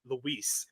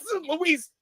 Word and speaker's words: Louise: he planted a oh he says Luis it's Louise done he's like done boom